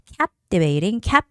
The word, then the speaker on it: captivating: So photographs featuring timeless classics, captivating has the first syllable stress.